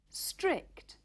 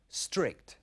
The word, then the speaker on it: strict: Strict. Comienza directamente por una S y a los españoles les cuesta mucho pronunciar esta S inicial. Strict.